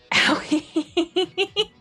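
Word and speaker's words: Aoi: Owie is correct? Okay. So I am saying it correctly. Good. Owie. Yep, that's how her name is said.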